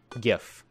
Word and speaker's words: GIF: GIF. That's the way it's pronounced.